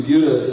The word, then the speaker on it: Buda: It's pronounced Buda, by the way. We're a little sensitive about that.